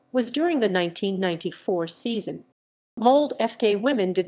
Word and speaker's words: Molde: women mold fossil club women pronounced mold at listen is the women's team